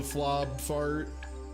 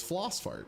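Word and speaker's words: Floßfahrt: The funny beta looking B is actually pronounced as a double S in German. So it's floss fart.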